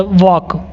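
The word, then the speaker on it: walk: व ए एल के इसको वॉक मत padhiyega क्योंकि एल जो है वो साइलेंट रहता है वो चुपचाप रहता है इसको सिर्फ और सिर्फ हम क्या पढ़ते हैं वॉक पढ़ते हैं वॉक मतलब टहलने है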